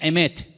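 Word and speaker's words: אמת: verdad y la palabra verdad en hebreo se pronuncia emet y vamos a ponerla ahí para que ustedes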